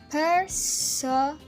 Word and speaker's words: personae: The plural of persona is personae, pronounced personae.